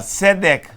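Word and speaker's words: צדק: justiça, tzedek, tzedek, e juízo, mishpat, chesed, emet, tzedek, mishpat. Chesed se escreve het, com pontuação para E, Samer e Dalet.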